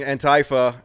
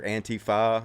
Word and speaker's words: Antifa: And yes, I know that's not how you pronounce it. I know it's anti, like you're anti. You're Antifa. And some people say faux, anti-faux. but I say Antifa because it's so much cooler to say it that way.